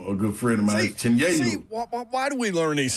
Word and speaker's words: Chinyelu: So it's Ruben Chinyelu. It's Chinyelu. So I'm gonna school everybody else around college basketball because they've been saying the same thing.